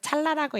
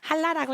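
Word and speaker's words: חלה: 그래서 제가 또 이제 그냥 못 지나가는 성격이라 가지고 그것은 찰나라고 읽는 것이 아니라 할라라고 읽는 것입니다라고 이렇게 댓글을 남겼던 적이 있었어요. 예, 찰나라가 아니고 할라라고 읽는 거고요.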